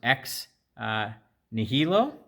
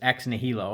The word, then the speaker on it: ex nihilo: I might botch this but I believe it's pronounced ex nihilo and it means out of nothing and it's